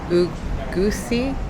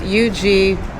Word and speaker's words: Uguisu: would recommend this place, Ugusi? No, it's Uguisu.